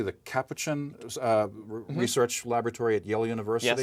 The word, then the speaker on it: Capuchin: And monkeys at the, am I pronouncing it correctly, the Capuchin Research Laboratory at Yale University?